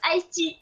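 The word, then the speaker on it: Aesty: Non, en fait, ça s'écrit A-E-S-T-Y et ça se prononce Aesti.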